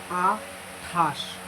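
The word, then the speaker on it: আটাশ: Atash. So first one is a, then tho, then a, tha, then talbosho, atash.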